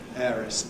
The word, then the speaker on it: heiress: Nor am I talking about words like hour, 60 minutes, which have an H in the spelling that is not pronounced in standard English. Hour, honest, heiress, and a few others that you know about.